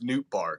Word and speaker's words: Nootbaar: Lars Nootbaar, yeah.